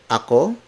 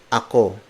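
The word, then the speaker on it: ako: Co see Chris pickle Akko he spelled us a K o it means I aku aku aku C is spelled as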